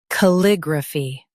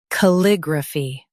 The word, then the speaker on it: calligraphy: Calligraphy. Now, read the syllables shown on the screen naturally. Ca. Lig. Ra. Fee. Calligraphy. Stress lig and keep ra soft.